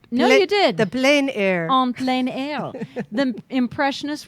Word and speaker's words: plein air: the term comes from the French which you thought of on plenary meaning in the open air so I didn't say it right no I did the plein air on plein air the